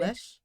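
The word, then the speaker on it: calèche: peasants and a universal crossing of themselves, a kalesh? How do you say it? Oh, yeah, I think you were Yeah, saying it right. kalesh.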